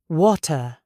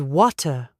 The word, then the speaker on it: water: It is not water, it is water. The T explodes, and then the mouth relaxes completely.